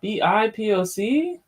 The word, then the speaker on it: BIPOC: agrees that the ah bi poc what is that real quick black indigenous and people of color bipoc that's how it's pronounced um agrees that disproportionately